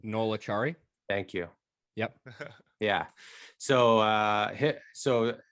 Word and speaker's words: Acciari: Noel Acciari.